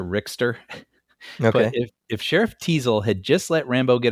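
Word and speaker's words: Teasle: From the First Blood, Tessel. Sheriff Tessel? Oh, Teasel. Teasel.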